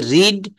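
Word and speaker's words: read: এইযে রিড এর ভিথ্রিটা হচ্ছে রেড। উচ্চারণ বানানটা কিন্তু একই। কিন্তু উচ্চারণটা হবে রেড।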